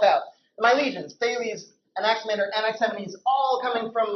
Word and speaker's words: Anaximander: just to help out my legions family is Anaximander nxn means all coming from lay leaders and